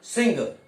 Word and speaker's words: सिंह: इसका उच्चारण क्या होगा? सिंह, जैसा इंग्लिश में लिखते हैं SINGH, क्योंकि ये काकल्य है। इससे पहले क्या गया? अनुस्वार, अनुस्वार आ गया। तो अनुस्वार को जब अपने परिवर्तन करेंगे ना तो काकल्य का पंचम वर्ण जो कि क्या होता है? ग, तो ये बनेगा सिंह।